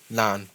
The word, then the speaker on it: naan: this nani, huh? Yeah, this shit's pretty good. It's spelled Naan. Naan. Yeah.